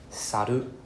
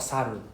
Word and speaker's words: 猿: But some of the common intonation error here is saru, not saru, right? Saru.